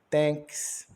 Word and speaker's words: thanks: pessoas falou obrigado obrigado thanks o t com som de t o h é mudo o a com o som de e n de n k de k s de S então Obrigado thanks e